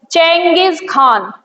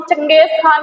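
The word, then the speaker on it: Genghis Khan: तो इसका हमला हुआ था, ये तिमूजिन डायनेस्टी से बिलोंग करता था और इसका प्रोनाउंसिएशन हाँ यही है चेंगिस खान। इसे हम चंगेज खान कहते हैं लेकिन इसका नाम था चेंगिस खान।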